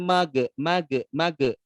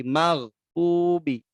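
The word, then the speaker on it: المغضوب: saat, membacakan ghairil maghdubi itu pun dipantulkan saat membacanya, itu tidak tidak benar ya, ghairil mage. Nah, itu tidak diperkenankan dipantulkan. Harusnya ya, mengalir saja karena huruf gha bukan huruf pantul. Ghairil maghdubi. Nah, tidak mage, tapi maghdubi alaihim waladdo.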